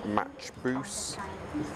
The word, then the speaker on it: Machboos: Soup, roasted butternut squash soup, appetizers, Arabic mezze and smoked tenderloin of salmon, mains, chicken matchbous, please excuse my pronunciation, char-grilled fillet of beef and paneer tikka masala.